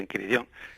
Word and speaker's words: Enchiridion: como está escrito ahí, que es una palabra latina y que se pronuncia en chiridón.